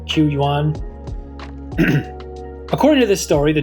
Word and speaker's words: Qu Yuan: how to pronounce it it's spelled qu y-you am so I'm saying qu yuan according to this story